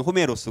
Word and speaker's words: 호메로스: 홈에 에로스 이제 어 그리스식 발음을 호메로스 고 영어식 발음은 호머